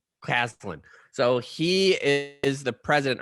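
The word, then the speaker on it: Caslen: Clausen? Caslin.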